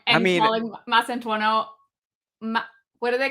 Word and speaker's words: Mastantuono: Pronouncing Huijsen's name wrong and calling Mastantuono. What do they call him? Mastuano.